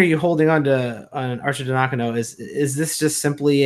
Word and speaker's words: Arcidiacono: diakon oh there it is got it Ryan Arcidiacono my starting point guard I refused to learn